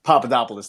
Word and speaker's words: Papadopoulos: the Greek guy whose name I can never pronounce. It's not Vasilopoulos. Papadopoulos. It's Papadopoulos.